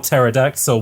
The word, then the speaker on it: pterodactyl: See, that's because most people have the opposite of, like, they just spell pterodactyl without the P, and people go, oh no, that has a P, it's a silent P in front of it.